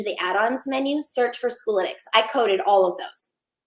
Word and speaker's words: Schoolytics: If you'll actually search for Schoolytics, it's spelled the word school and then YTICS. It's analytics and school put together.